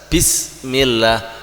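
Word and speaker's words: بسم الله: tangan] Bismillahirrahmanirrahim nah ketika bismillah itu bisnya harus benar-benar tegas bismillah Bismillahirrahmanirrahim bismillah akhirnya bismillah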